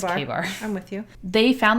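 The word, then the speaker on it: KA-BAR: It's pronounced, or it's spelled K-A-bar. Okay, So I wouldn't have known that. I would have called it K-bar. Yeah, but it's K-bar.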